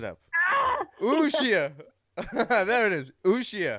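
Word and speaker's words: Uxía: Uxia. I think the accent is on the I, so Uxia.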